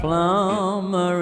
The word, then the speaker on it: plumber: Carol was a plumber in my zone. No, è vero, non si pronuncia il B, hai capito?